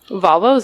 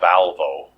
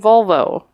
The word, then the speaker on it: Volvo: Volvo not Volvo not valvo I'm not saying Val I'm saying vol yeah what where are